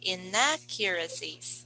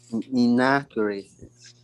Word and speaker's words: inaccuracies: Where's the stress of the word? The second syllable. Second syllable. So you say inaccuracies. One more time. Inaccuracies.